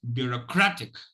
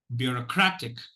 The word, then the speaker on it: bureaucratic: Okay, it's bureaucratic. I repeat, bureaucratic. Bureaucratic. You will notice that the third syllable is stressed because I'm spending more time.